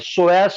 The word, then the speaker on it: psoas: तो स्पेलिंग क्या है इसका? PSOAS, सोयास major, सोयास minor.